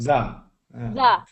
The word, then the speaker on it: the: Just make sure it's not the. Make sure it's not duh. The. Good. The the.